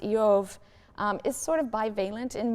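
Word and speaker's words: איוב: purposes the name job which in hebrew is pronounced yov is sort of bivalent in meaning it can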